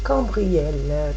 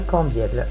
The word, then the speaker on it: Cambiel: Cambriel, que je ne dise pas de bêtises et que je le prononce bien son prénom. Excuse-moi, cher archange, d'avoir écorché ton nom. Merci pour ta présence, c'est bien Cambiel. Je ne me suis pas trop trompée.